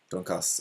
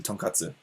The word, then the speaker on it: tonkatsu: Yeah, the place we went, it's like a donkas, or like the you guys are, those of you watching are probably more familiar with the Japanese pronunciation, tonkatsu, the fried pork cutlet, but it's a fried pork cutlet buffet.